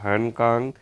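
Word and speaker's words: Han Kang: Salman Rushdie হ্যানকাং Margaret অটুড হর্সমান্দার সঠিক উত্তর হয়ে যাবে অপশন নাম্বার বি হ্যানকাং ক্যাং হ্যান ক্যাং দক্ষিণ কোরিয়ার হ্যানক্যাং সাহিত্যে নোবেল প্রাইজ 2024 পান কিতার উচ্চারণ হবে হ্যান কাং আচ্ছা 26 এ সি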